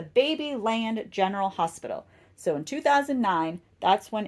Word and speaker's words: Babyland General Hospital: that is the ba I'm sorry I keep saying it wrong it's the baby land General Hospital so in 2009 that's